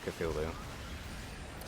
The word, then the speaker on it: Cthulhu: defies that rule is Cthulhu. Cthulhu? Yeah, Cthulhu. Cthulhu. That's like 3 syllables. Cthulhu. Yeah, that's 3 syllables.